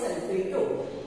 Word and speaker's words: sulfato: Suppose there is sulfate, replace this ATE and you write ATO, means pronounce as sulfato.